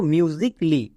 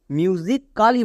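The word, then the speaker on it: musically: এল ওয়াই লি মিউজিকলি একে অনেকে ভুল করে মিউজিক কালি বলে বাট মিউজিকালি হবে না কারণ এখানে এ সাইলেন্ট তাহলে এর সঠিক উচ্চারণ হবে মিউজিকালি একে ভুল করেও আমরা মিউজিক কালি বলবো না এর ক্ষেত্রে আরেকটা টিপস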